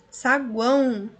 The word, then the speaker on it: saguão: Sim, a letra ali é O, porém o som é U. Saguão, se você pronuncia aí